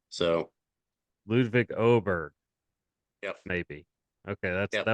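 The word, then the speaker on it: Ludvig Åberg: It's they pronounce that A with the funny symbol above it, kind of like an O. So Ludwig Oberg, yep.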